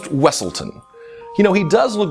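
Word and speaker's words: Weselton: bet you didn't guess it's the Duke of weaseltown from Frozen uh it's pronounced wesselton you know he does look very similar to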